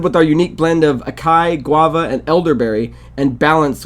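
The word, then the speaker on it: açaí: I always get mixed up with that word, but I think it's pronounced like acai. Acai. Did I mess it up last time? I said acai too or something? I always say acai, but I'm pretty sure it's like acai because that's like what's the acai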